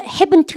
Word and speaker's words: haven't: 여러분들 haven't 하실까요? No, I haven't 할까요? No, I haven't. 트 발음하지 마세요.